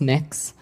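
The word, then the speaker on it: Mx: what you're you're proposing it's pronounced mix um mix is that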